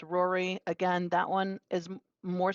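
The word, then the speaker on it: Rorai: the next one um is r-o-r-a-i three-year-old female pronounced Rory again that one is more sensical but why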